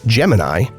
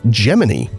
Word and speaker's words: Gemini: But while the constellation is pronounced Gemini, not everyone knows that the name of the NASA program was usually pronounced Gemini within the space agency.